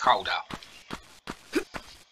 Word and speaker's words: Gouda: you've ever wondered about the dutch pronunciation of cuda that happens to be houda the name of the